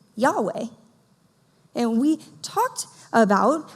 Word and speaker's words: Yahweh: it translates in Hebrew it translates YH wh which we pronounce Yahweh so last week Kyle